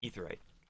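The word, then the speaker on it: Aetheryte: but you will find etherite etherite i interchange the two just because ae spelling makes me think uh an ae sound but it's an e sound based upon pronunciation and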